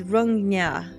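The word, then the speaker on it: Rungna: I can never say this right, and I know how to pronounce it. It's Rungnya.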